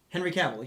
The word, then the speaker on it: Henry Cavill: Henry Cavill, yeah.